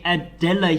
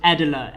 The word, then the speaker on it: Adela: us how to play adella here i think i'm going to go with adela edela is the way to pronounce it he's just going to be